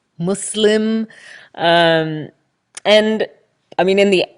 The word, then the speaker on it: Muslim: non-muslims and also about Muslims also another aside but I think irrelevant to what men want to mention is the pronunciation of Muslim its Muslim with an S not Muslim Muslim ik which makes it sound